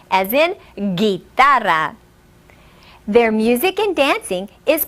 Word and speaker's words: guitarra: La guitarra. Repeat after me. La guitarra. Notice that the G is pronounced differently in the words el gitano and la guitarra.